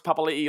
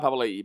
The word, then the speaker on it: Papali'i: Anthony Papanathan says, why does everyone say Josh Papali'i like Isaiah Papali'i? Because that's his name. Because just because it's spelt, it doesn't have the apostrophe. Josh came out and said that's how his name is.